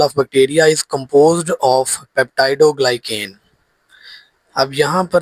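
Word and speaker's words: peptidoglycan: तो cell wall of bacteria is composed of पेप्टाइडोग्लाइकेन। अब यहाँ पर ना बच्चों को इसकी प्रोनाउंसिएशन नहीं आती है, प्रोनाउंसिएशन यानी कि तलफ़ुज़। पेप्टाइडोग्लाइकेन, पेप्टाइडोग्लाइकेन ये एक ऐसा केमिकल है, a complex material made of amino acids and sugars।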